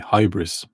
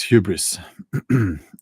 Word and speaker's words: hubris: the title uh hubris I did want to say hybris and people called me out oh that's not how you pronounce it it's hubris and hubris is when you